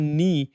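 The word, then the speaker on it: knee: যেমন নি এনিতে কিন্তু খ সাউন্ড হচ্ছে না।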